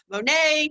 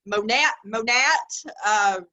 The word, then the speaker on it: Monat: So I've heard everything from Monet to Monat to Monat. So it actually is Monat. It's the first syllables and the sounds from the word modern nature.